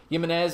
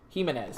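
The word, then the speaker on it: Giménez: all the scoring so far the pitch to Jimenez is fouled off down the left field line now Staying Alive one and two Jimenez sorry Jimenez is how you pronounce this last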